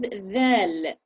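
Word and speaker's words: ذال: So the next one is dhal. Dhal. Dhal. So say the word this and say dhal.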